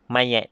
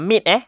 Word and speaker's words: mayat: Okey, ni bukan mit ni bukan mit. Ni mayat. Mim yata, kalau ikutkan mim yata mit, betul tak? Tapi sebenarnya ini adalah ejaan untuk mayat. Jadi atas tu awak boleh tulis rumi dia. M-A-Y-A-T, mayat.